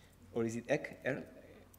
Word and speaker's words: Ek: Elk. Or is it Ek? How do you pronounce it? Ek.